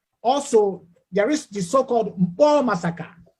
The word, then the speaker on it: Nkpor: Also, there is the so-called Mpo massacre. Mpo is spelled like NKPOR, massacre, on 30th May 2016.